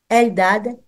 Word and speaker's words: Eldad: la règle du jeu la règle c'est de prononcer pour les nots propres et les mots qui ne sont pas dans notre langue on prononce toutes les lettres eldade et mdad jeune homme qu'it annoncer